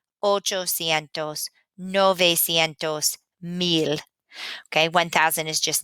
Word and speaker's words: novecientos: And the two that we're really having a hard time with pronouncing are 500, which is quinientos, quinientos, and 900, novecientos.